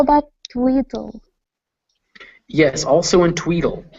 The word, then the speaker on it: Tweedle: Yes, also in Tweedle. So it's written Tweedle, but it's actually pronounced Tweedle.